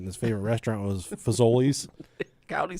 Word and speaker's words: Fazoli's: He'd go, I'm going to Faziolios. I knew he was going to say it wrong.